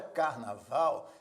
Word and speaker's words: carnaval: exemplo na palavra carnaval a palavra Carnaval tem três sílabas né carnaval mas Observe que a sílaba Val é a sílaba que se pronuncia com mais força carnaval é a sílaba tônica apresenta o acento tônico não apresenta acento gráfico